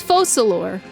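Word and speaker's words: Focalors: C and faux slower is collect so it's focalor okay you may consider this my reward to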